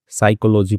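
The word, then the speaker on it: psychology: इसमें P silent होता है। साइकोलॉजी पढ़ते हैं इसको।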